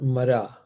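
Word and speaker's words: मार: So they said, all right, there's another word in Sanskrit called Mara. So if you think of R-A-M-A and then reverse it, well, to the syllables, reverse the syllables, it's M-A-R-A.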